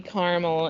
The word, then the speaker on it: caramel: it and it's delicious that how you say it caramel caramel caramel caramel I say caramel such a Kian caramel like Caramel Indiana yeah but Carmel Indiana should be Carmel Carmel yeah see it